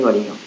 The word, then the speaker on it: Varignon: El teorema de Varignon se pronuncia en francés Varignon.